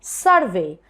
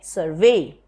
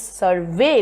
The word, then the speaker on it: survey: in my last video when a word is a verb you put stress on the second syllable if it is a noun you say survey if it is a verb you say survey so it is survey because it's a verbum okay so these two